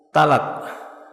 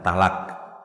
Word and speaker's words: talak: Tapi dalam bahasa Indonesia kita membacanya dengan ringan takhfif. Talak. Kalau dalam bacaan arabnya dengan ya tafkhim dengan tebal bacanya ya thq dengan qaf. Adapun dengan bahasa Indonesia sudah diringankan. Talak biasa.